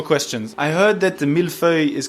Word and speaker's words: mille-feuille: What is a mille-feuille, and am I pronouncing it correctly? Alors, mille-feuille, yeah, you just did it rightly.